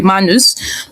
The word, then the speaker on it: Manus: So I said I was exploring Manus AI, though it didn't get the pronunciation correctly here. It's supposed to be Manus, but I said I'm exploring Manus AI, and I wanted to create a portfolio website for my brand.